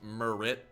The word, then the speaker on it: Murrit: We say Murrit just because we're saying it very like fast. And again, also I'm Southern, but it is pronounced Murrit.